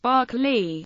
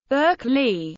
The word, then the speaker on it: Berkeley: Philosopher's name is pronounced barkle the pronunciation of the city's name has evolved to suit American englishes Burke Lee the College of California's